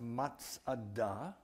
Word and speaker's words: Masada: Masada fortress is pronounced Matsada, and the word Masada simply means fortress.